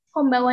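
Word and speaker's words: こんばんは: Konbanwa ini kan ada N-nya di sini. Nah, untuk N-nya sendiri dalam Jepang itu kita bacanya eng.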